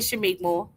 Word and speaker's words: Shameik Moore: Yeah, I said Shameik Moore.